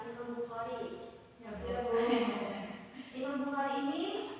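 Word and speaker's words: إمام البخاري: Nanti bacanya jangan Imam Bukhari ya, Imam Bukhari.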